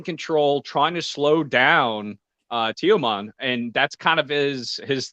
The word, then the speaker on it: Teoman: Teoman, yep.